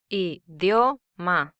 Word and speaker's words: Idioma: The Spanish for language is Idioma. Idioma. This word has 3 syllables, with the second syllable combining a consonant, a weak vowel, and a strong vowel.